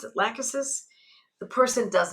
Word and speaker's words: Lachesis: Some people pronounce it Lachesis, I pronounce it Lachesis.